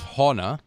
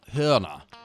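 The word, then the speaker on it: Hörner: could be horner but those two dots over the o known as an umlaut change the pronunciation so instead of horna it's herna piano is clavia though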